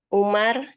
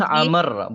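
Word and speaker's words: عمرو: Isim adalah secara bahasa apa-apa yang menunjukkan penamaan seperti Zaidun, Umar, rojulun laki-laki, Amr, bukan Umar ya. Kalau Umar itu tidak ada wawunya di ujungnya. Kalau ada wawunya di ujungnya itu Amr bacanya. Amr, rojulun laki-laki, sayyaratun mobil, imro'atun imro'ani wanita.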